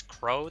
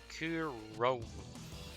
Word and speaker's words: Kuro: I think it's Crow the way it's pronounced. What a nickname I gotta say. Wait, it's Kuro. Like that.